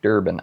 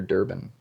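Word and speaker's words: Durbin: It's more disturbing than Senator Dick Durban. I actually think he was before my time. I don't really remember, but his name rhymes with disturbing. though. Sorry, Senator Durban.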